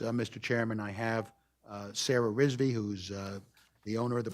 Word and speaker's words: Rizvi: Sure, Sarah, and the last name is R-I-Z-V-I, that's pronounced Rizvi.